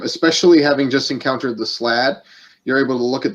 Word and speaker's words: Slaad: SLAAD. I might be saying it wrong. No, But, it's Slad. I'm pretty sure. It's I'm either pretty Slad sure or it is, yeah. Slade. But no, Slade wouldn't sound right. Slade sounds Maybe wrong Slad.